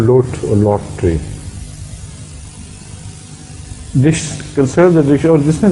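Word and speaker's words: lote: It's called lot or lot tree. Consider the dish, और जिसने देखें इसमें लिखा होगा. We will see it. Huh? How do you pronounce? Lot tree. Yes. L-O-T-E. That's right.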